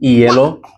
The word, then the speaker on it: hielo: And then H, as we mentioned, is silent. Hielo, historia.